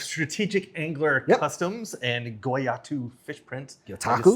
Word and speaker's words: Gyotaku: Customs and Gyotaku Fish Prints. I Gyotaku, just said it yep. wrong again, didn't I? Say it again. Gyotaku. Gyotaku.